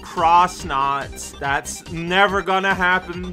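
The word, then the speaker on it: X-Naut: moon base from xnot which apparently is meant to be pronounced cross knot that's never going to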